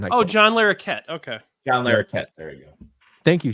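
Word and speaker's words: Larroquette: the uh prosecutor oh John larette okay John larette there you go thank you shankster thank you whatever French ancestry allows you to pronounce that name you know the character actor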